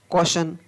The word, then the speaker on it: caution: Next, शब्दों के अंत में जब TION, TIOUS, TIAL आता है तो उस समय टी का उच्चारण है वो स होता है। जैसे नेशन, NATION नेशन, नेशन, NATION नेशन। Martial, MARTIAL martial, NUPTIAL नफसल, PARTIL फाशल, CAUTION कौशन, CAUTIOUS कॉशस।